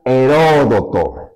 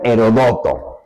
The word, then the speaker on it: Heródoto: padre de la historia, el gran Heródoto y que también lo pronuncian Herodoto. Eh eh lo antiguo muchas veces resulta impreciso, pero quien diga Herodoto o quien diga Heródoto, ambos tienen razón, pero coinciden en qué?